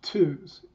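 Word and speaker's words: TUHS: second group is bit savers eunice historical society pronounced twos has been collecting unix artifacts for almost two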